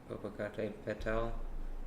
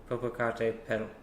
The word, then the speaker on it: Popocatépetl: Popocatépetl and Sakurajima. Also, I've heard it pronounced Popocatépetl, and I could say it either way.